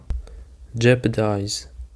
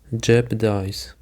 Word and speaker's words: jeopardize: Jeopardize. The stress is on the first syllable. Jeopardize.